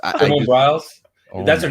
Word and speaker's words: Biles: Simone Biles.